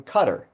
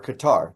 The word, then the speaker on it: Qatar: Qatar funds Hamas, directs Hamas, and the leaders of Hamas that aren't in Gaza are in Qatar or Qatar, depending on how you pronounce it.